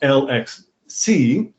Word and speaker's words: LXC: years, but I just discovered that LXC is pronounced LXC, but LXD is actually pronounced LexD for some reason.